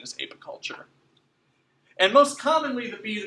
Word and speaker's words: apiculture: people but per night the per if correct pronunciation is apiculture and most commonly the B's that people are